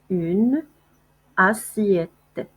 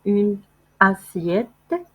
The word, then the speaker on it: une assiette: une assiette. انتبهوا ما كنقولوش une assiette كنديروا لا ليزون حيت عندنا دو فويال كنقولوا une assiette.